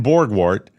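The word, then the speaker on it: Borgwardt: Ryan Borgwart B I'm pronouncing it correctly. B O R G W A R DT. Borg wart.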